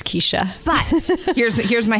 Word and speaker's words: Kecia: CORI JENSEN: "Kee-shuh." KECIA : Most people say "Keh-shuh" based on how it's spelled.